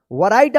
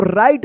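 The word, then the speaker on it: write: वैरायटी आप पढ़ते होंगे ना गलत ये इसको राइट पढ़ेंगे।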